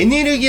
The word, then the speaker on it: 에네르기: 없었어요 우선 애니를 계파의 에네르기 라는 발음은 일본인이 발음하는 영어단어 에너지 라고 생각하시는 분들이 많이 계신데 독일의 nl 계 에 발음에서 가져온 것이라 알고 있구요 에네르기파 는 쉽게 말해